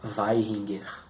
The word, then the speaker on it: Vaihinger: Se fala com F, né? Mas se escreve com V. Então seria Vaihinger.